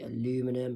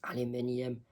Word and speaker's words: aluminium: And Americans and Brits, like Americans and Canadians both say aluminum, like aluminum cans and aluminum foil, while British people and people from other English-speaking countries would say aluminium.